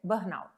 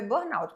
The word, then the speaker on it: Burnout: padrão O que é Burn Pois é um nome esquisito né um nome esquisito e tem que saber a pronúncia certinha Burnout você vai ler Bur mas é Burnout porque aqui a gente